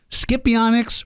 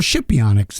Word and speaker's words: Scipionyx: Scipionyx or Scipionyx? The answer is yes.